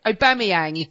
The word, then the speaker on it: Aubameyang: Thank you, because I've been teaching you, and it's Aubameyang.